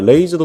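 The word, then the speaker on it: Raze: 잘 어울립니다 그 다음에 레이즈도 똑같아요 레이즈도 웨이즈에다가 알바를 넣는다 생각하시면 돼요 웨이즈에다가이 친구도 웨이나에서 레이나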